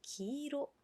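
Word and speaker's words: 黄色: 노란색은 기로. 기로라고 해 주시면 돼요.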